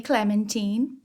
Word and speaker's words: Clementine: the book we meet lady Clementine which rhymes with Josephine on her wedding day